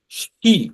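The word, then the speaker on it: し: অর্থাৎ এস এইচ আই উচ্চারণ হবে শি।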